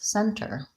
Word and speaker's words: center: you okay next question why is the letter T or the sound dropped in words such as Center mm-hmm so the time I just said it great with the very clear T Center but often when there's an NT in the middle we don't really hear that T